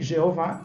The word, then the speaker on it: Jeová: nome para se ler a gente coloca esse acento que em português fica claro que a última sílaba é a mais forte vá e Jeová é uma tradução em